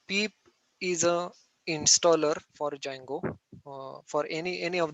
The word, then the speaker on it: Django: framework is django okay d is silent you can spell it as a django okay but you can pronounce it as a django okay so let me